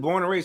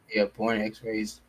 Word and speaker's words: Born X Raised: So you got to put born X raised. Born X-rays. Oh, I've been saying it wrong this whole time. Yeah, that's like literally the name, Born X-rays. My bad. I saying been born and raised. I've been saying N instead of X.